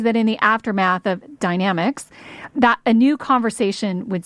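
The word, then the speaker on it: Dynamex: in legal circles as Dynomax which I learned on Monday is actually pronounced dynamics I'm sure I'm going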